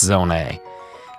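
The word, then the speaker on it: Zonai: Now, why is it pronounced zone A, you may say? Well, uh that's just the correct pronunciation.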